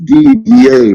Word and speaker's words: Didier: having trouble pronouncing Your Name What's the correct pronunciation of my name in French name is DDA but you could call me you know